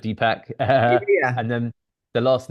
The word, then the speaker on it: Deepak: wrong no it's okay dpack so like two pack but dpack and then the last